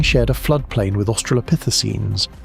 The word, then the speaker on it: Australopithecines: That thing shared a flood plain with Australopithecines, pronounced Australopithecines, the small upright apes we call our ancestors, and it outweighed them by roughly six to one.